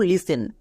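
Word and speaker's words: listen: এফ থাকলে টি silent যেমন দেখো লিসেন এখানে টি এর আগে কি আছে এস আছে তার মানে টি সাইলেন্ট তাহলে কি হবে এল আই এস ই এন লিসেন এখানে কিন্তু খুব ভালো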